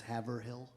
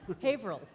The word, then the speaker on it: Haverhill: it on a map, spelled as Haverhill. And but up there we try to do everything with one less syllable. Haverhill.